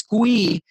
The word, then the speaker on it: Kui: Kui to the Dream Nation podcast. is it Kui? Is that the right way to say it? It's pronounced Chi, like Tai Chi.